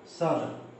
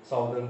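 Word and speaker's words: southern: ठीक है, नॉर्दर्न बोल देते हैं, साउदर्न बोल देते हैं। तो याद रखिएगा, ये नॉर्दर्न नहीं होता है, नदर्न होता है।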